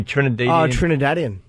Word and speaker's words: Trinidadian: Trinidadian.